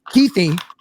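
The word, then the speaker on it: Kuithe: But I'm saying that Keithy, which is how you pronounce his name, the senior citizen Brandt Keith was actually 11 number 11 in his PFF grade.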